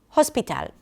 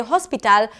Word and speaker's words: hospital: In this case, it's the first syllable, ha.